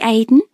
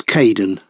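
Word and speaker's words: Kaeden: welcome to the team hi Aiden uh it's Kaden I'm so sorry oh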